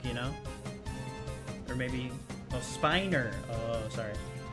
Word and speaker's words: Spiner: Or maybe Oh, Spiner. Oh, sorry.